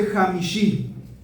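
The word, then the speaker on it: חמישי: Quinto en hebreo se dice Jamishi. Y Jamishi se escribe con una Jet, una Mem, una Shin, una Shin y una Yud.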